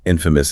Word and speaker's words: infamous: Infamous is bad. Exactly. Infamous means notorious. Known for something negative like a crime or terrible deed. And the video notes the pronunciation infamous stress on the first syllable.